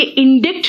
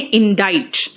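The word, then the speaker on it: indict: बेटा ये इंडिक्ट नहीं है प्रोनाउंसिएशन, इसका प्रोनाउंसिएशन है इंडाइट।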